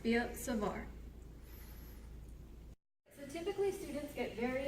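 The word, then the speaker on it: Biot–Savart: right it's b-i-o-t hyphen r s-a-v-a-r-t and it's pronounced b savar so typically students get very intimidated by the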